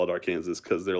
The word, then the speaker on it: Arkansas: vine about Kansas in Arkansas oh the one where they where they say why why do they pronounce it as Kansas but this is art Arkansas not Arkansas yeah my friends in